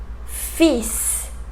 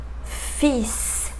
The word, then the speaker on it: fils: So, for example, bus, bus, fils, fils. In that final one, you have an L, but we don't pronounce it.